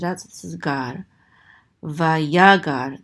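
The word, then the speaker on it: ויגר: Vayagar, the accent is on the second syllable because of this trope mark right here, vayagar.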